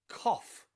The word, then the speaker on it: cough: end of a word think of words like rough rough and cough cough okay rough and cough finish in gh but they have that the letter f they finish in a sound cough as in cough